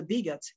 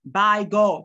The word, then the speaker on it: bigot: And the stress is also placed on the first syllable, as it is pronounced bigot. Bigot, not by God. When you say by God, mispronouncing the first syllable especially, and you're also placing the stress wrongly.